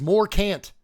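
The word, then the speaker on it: Morcant: There are two ways to pronounce this thing's name. Really three. One of them is more Kant. And I will never say more can't. I am more can.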